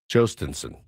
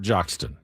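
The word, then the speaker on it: Jhostynxon: The way that you pronounce his name according to David Jay who knows things. Jostenson. Jostenson. Not Joxton. Jostenson. Wasn't even really close.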